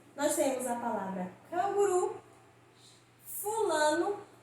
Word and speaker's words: fulano: Fulano. Se eu falasse fulano, daria a impressão de que a sílaba mais forte é a última, não é isso?